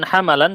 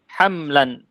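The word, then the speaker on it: حملا: 5 ya Apa bacanya itu bukan hambalan seharusnya apa hamlan mimnya di situ mimnya Di fathah kan ya Berarti ada dua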